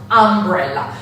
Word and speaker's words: umbrella: But in English it is pronounced umbrella. So in many cases, the letter U is read like our A, umbrella.